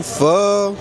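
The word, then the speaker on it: pho: let's try this chicken फ की spelling होती है पी एच ओ फॉर she taking a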